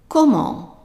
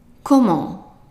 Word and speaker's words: comment: Now the EN here is pronounced like in the word honk, to honk the horn. So it's an on. So how would you pronounce the word up to here, knowing that the T is silent? So whenever I underlined a letter, that means that letter is silent. Okay, try it. Comment. Comment. Very good.